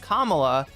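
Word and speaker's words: Kamala: if anybody ever says, "Hey, it's pronounced Kamla."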